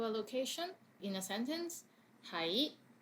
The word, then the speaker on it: 喺: 喺 Be somewhere Notice that it's very similar to the last to be. It's 係 and 係. 係 is in 6 tones, and this one is in 2nd tone, 係.